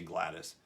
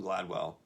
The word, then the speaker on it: Gladwell: In the book Tripping Point by Malcolm Gladwell, I keep saying his name wrong. I always say Gladys. Malcolm Gladwell asserts that an idea